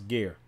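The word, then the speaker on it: גר: It's ger. I pronounce ger.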